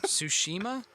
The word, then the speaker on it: Tsushima: don't Tsushima sushi yeah it's Tsushima probably - soosh there's a tea in the front is it a silent tea uh yeah I will